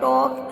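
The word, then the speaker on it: talk: तो look at the word टॉक here, और एल is silent, तो हम टॉक बोलते हैं तो एल का ल का एल होता है तो हम टॉक बोलते हैं, इसमें हम ल नहीं बोलते हैं।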